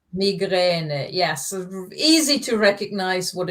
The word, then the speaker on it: Migräne: Migräne. Migräne. Migräne. Yes. Easy to recognize what it means in English. Pronunciation is a bit different.